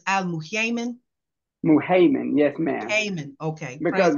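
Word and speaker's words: Al-Muhaymin: Muhaymin, yes, ma'am.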